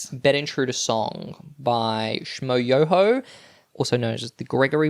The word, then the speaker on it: Schmoyoho: The most viewed YouTube video of 2010 was Bed Intruder Song by Schmo Yoho, also known as the Gregory Brothers, who we've covered heavy on the yo, accent on the yo.